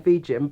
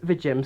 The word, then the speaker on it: VIJIM: the company was pronounced at first i thought it was either viagem or vegem but all the other reviews were pronouncing it as the gym so uh yeah that's